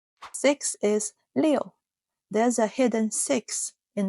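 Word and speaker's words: 六: Six is Leo. There's a hidden six in the shape. A fun visual trick. Leo.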